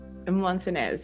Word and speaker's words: Montanez: be a part of this conversation with Montanez. Did I pronounce that correctly? Montanez, yes.